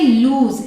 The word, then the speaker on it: lose: Next is LOSE, इसे pronounce करेंगे लूज।